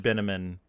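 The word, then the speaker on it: Binamon: Bates show up with Mr binnamon rhymes with cinnamon uh during the the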